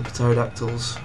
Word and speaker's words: pterodactyl: Whatever they're called, the pterodactyls. Pterodactyls, yeah. Put. Silent P in it.